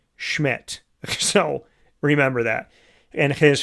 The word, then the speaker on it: Szmyt: None other than the man, Andre Schmidt. It's spelled SZMYT. It's pronounced Schmidt.